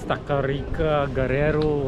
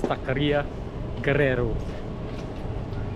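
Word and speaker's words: Taqueria Guerrero: from the chef okay so we got someone to help us pronounce the name it's takaria Guerrero food truck there right on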